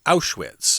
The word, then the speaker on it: Auschwitz: He calls it out with, but it's actually Auschwitz, okay?